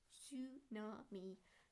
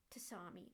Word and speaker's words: Tsunami: But Tsunami is pronounced Tsunami, not Tsami, like how you pronounced it.